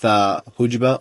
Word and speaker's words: jojoba: This is a whipped tallow with jojoba oil. Oh, I think it's pronounced jojoba. I can pronounce it jojoba.